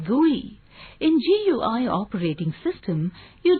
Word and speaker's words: GUI: Windows operating system is a graphical user interface or GUI, pronounced as GUI.